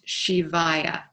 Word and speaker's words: Shivaya: get the nama and the last word is shivayya and that's spelled s listen Sam H is in Harry